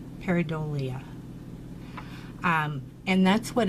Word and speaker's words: pareidolia: our nice but anyways that is called Perry though I'm gonna mispronounce it but there's a pronunciation right there for you peridot Lee pareidolia and that's what it's